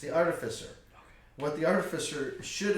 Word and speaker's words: Artificer: It's the Artificer.